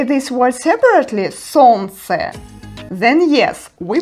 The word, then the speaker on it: солнце: In this combination, we don't pronounce Л sound.